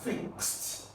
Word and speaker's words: fixed: tense in other words if a word ends with s or X then the Ed that makes it a past tense is usually pronounced as what T So this word is going to give you fixed but before you talk